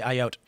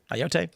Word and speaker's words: Ayotte: 22-year-old man charged with threatening to kill New Hampshire Governor Kelly Ayotte. How do you pronounce that? Ayotte?